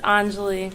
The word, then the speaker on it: Anjali: No worries, it's Anjali.